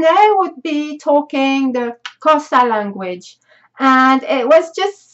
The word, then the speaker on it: Xhosa: And whilst I was in South Africa, I also discovered a brand new language called the Xhosa, or however you pronounce it. I know it's a clicking sound, Xhosa.